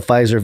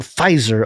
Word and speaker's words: Pfizer: instagram there he said the silent p gave the word pfizer a luxurious feel reminiscent of the silent h in hermes yeah okay i asked